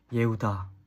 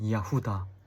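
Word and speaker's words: יהודה: 저희가 유대라고 하지만은 그 히브리어로 가게 될 경우에는 이제 예우다 혹은 이야후다 이렇게 발음하거든요.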